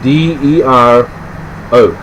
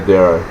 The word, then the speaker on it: Dero: It's it's spelled D-E-R-O.